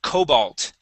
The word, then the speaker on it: Cobalt: go to the word Cobalt okay stress the beginning of the word Cobalt Cobalt there good